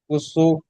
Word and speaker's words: قسم: هل في ذلك قس قسم قسم কুসু নয়, الذي কুসু নয়, কফ জবর ক উচ্চারণ হয়, কুয়াশা।